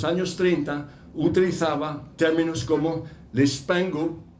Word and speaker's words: les pingouins: El bautizar un abstract como los pingüinos, les pingouins, les pingouins, hay que pronunciarlo así, ¿verdad?